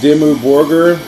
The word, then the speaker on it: Dimmu Borgir: Oh, I also wanted to tell my friend Shant out in New York the correct pronunciation of that band I told you about was Dimmu Borgir.